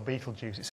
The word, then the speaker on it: Betelgeuse: gears or beetle juices as for myself I choose beetle because be ete l a mild stimulant used in eastern asia is and always has been pronounced beetle in english I choose juice rather than Jews because I don't want to sound anti-semitic it's really that simple